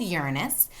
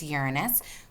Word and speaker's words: Uranus: this beautiful milk Blue Planet this is called Uranus that is how Neil deGrasse Tyson pronounces it so that is how we pronounce it okay it's Uranus gorgeous like a look at the shimmer beautiful